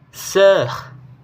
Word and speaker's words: sœur: Untuk pengucapannya yaitu seperti bunyi E dan lebih terbuka daripada E yang sebelumnya. Contoh kata yaitu leur, lalu kata sœur, dan kata œuvre.